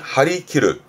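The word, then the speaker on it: 張り切る: 그래서 발음이 하리키르, 하리키르. 왼쪽 그림처럼 활을 쫙 당기고 있는데 기르, 잘리지 않게 좀 조심하고 긴장해야겠죠. 그래서 하리키르는 그런 긴조, 긴장의 의미로 쓰기도 하고, 그리고 멀리 쏘려고 아주 의욕에 넘쳐있는 상황.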